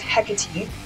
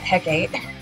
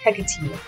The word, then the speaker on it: Hecate: her name wrong this whole time um it's hecate not hecate it's spelt like hecate but it's pronounced hecate um so uh we're going to have hecate